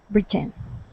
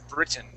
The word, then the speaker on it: Britain: Britain. Yeah. So, that accent goes at the very beginning. Britain.